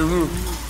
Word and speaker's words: roux: A roux. It's a roux, honey. You want to say roux? That X is silent. It's fine.